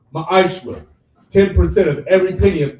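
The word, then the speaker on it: ma'aser: It means tenth in the Hebrew is pronounced ma'ashra.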